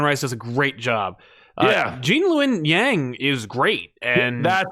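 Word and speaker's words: Gene Luen Yang: Jean-Lun Yang is great.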